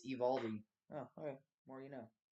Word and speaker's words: Eovaldi: It's not Eovaldi, it's Evaldi.